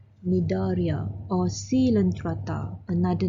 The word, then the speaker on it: Cnidaria: Okay, the C is silent, Cnidaria or Coelenterata, another name.